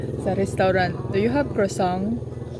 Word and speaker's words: croissant: Pati krosong di daw kabalo mo pronounce. Croissant.